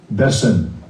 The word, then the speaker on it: beśem: Beśem. Beśem. That's how you And the pronounce it. form just below that, beśem.